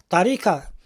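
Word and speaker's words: طريقة: chemin en plusieurs sens je le prononce à l'arabe vous allez vous le prononcer tarika c'est la manière la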